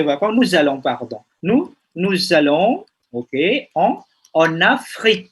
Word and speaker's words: Afrique: Je vais, ok, pour les vacances, nous allons, ok, en Afrique, bacanya. En Afrique, c'est pas Afrika.